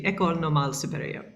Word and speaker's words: École Normale Supérieure: I wish my French were as good as it should be, but it's the École Normale Supérieure.